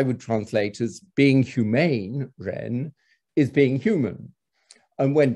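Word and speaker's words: 仁: In the modern pronunciation, both are Ren, and they are perhaps also etymologically connected.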